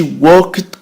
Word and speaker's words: walk: so she walked quickly back to her room. ولهذا رجعت مسرعة لغرفتها. هنا سنشرح الفعل walk back. walk تمشى. مشى يمشي walk. لا ننطق L walked.